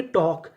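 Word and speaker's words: talk: जैसे TAL के, इसे पढ़ेंगे टॉक, यहाँ पे L हमारा साइलेंट रहेगा और आखिरी में लिखा है ED, तो इसे क्या पढ़ना है?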